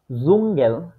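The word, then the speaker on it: Dschungel: এইটা শব্দটুকু যখন থাকে এটার উচ্চারণটা সাধারণত হয়ে থাকে জ এর মত এটার উচ্চারণটা কিসের মত হয় জয় এর মত যেমন জুঙ্গেল এটা এখানে শুরুতে থাকলেও সে উচ্চারিত হচ্ছে না হইতেছে কি জুঙ্গেল জুঙ্গেল আরেকটা জুঙ্গেল কাম জুঙ্গেল কাম ঠিক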